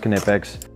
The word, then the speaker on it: Knipex: wire strippers alignments all quinipex of course yes it's pronounced kinepics and then i've got